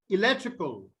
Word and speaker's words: electrical: So the stress here will be on the syllable before the IC. So electrical.